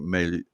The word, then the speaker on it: Milei: You pronounce it Milei.